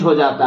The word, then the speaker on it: hedge: हैं, अर्थात वो साइलेंट हो जाता है। जैसे एग्जांपल से देखिएगा ज्यादा आ जाएगा, जैसे HEDGE। अब इसमें देखिए डी के बाद जी लगा हुआ है तो इसमें हम लोग डी को नहीं पढ़ेंगे।